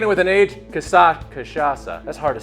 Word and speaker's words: cachaça: that we're making with kasasa casasa I think it's casasa hold on how do I get to Siri hey Siri how do you pronounce kashasa kachaka that ain't right so this cocktail we're